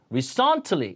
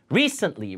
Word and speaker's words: recently: 그 다음에 recently, re에 강세 주고 요거는 음절이 없으니 강세가 없으면 세가 아니라 으로 죽여야 됩니다.